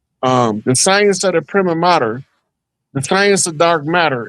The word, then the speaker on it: prima: Cuz it's actually pronounced primma.